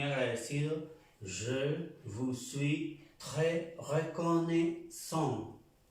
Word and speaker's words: reconnaissant: Je vous suis très reconnaissant. La A y la I suena E. Reconnaissant.